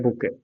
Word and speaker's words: bouquet: ठीक है, नेक्स्ट है बुके. वैसे तो क्यू यू ई टी है बट साइलेंट रहेगा ये. बुके, बुके बोलते हैं.